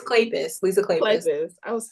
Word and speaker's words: Kleypas: Spell it. Klapa. Spell Clay- it. Kleypas. What did you say, Katrina? It's Kleypas.